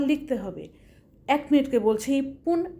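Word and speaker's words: いっぷん: তো আসো আমরা দেখি ইপুন এক মিনিট।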